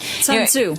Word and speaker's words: Sun Tzu: Okay, yeah, ask me to pronounce that. Sun Tzu.